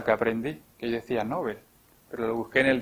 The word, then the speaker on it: Nobel: Es otra cosa que aprendí, que yo decía Nobel, pero lo busqué en el diccionario de la lengua española y hay que decirlo con la pronunciación sueca. Nobel, no Nobel.